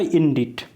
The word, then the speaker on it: indict: तो यहाँ पे जो वर्ड था हमारा वो था इंडिट। इंडिट देखो यहाँ पे जब बोला जाता है इसको तो इसका प्रोनाउंसिएशन इंडिट होता है और शी जो यहाँ पे है ये रहता है साइलेंट।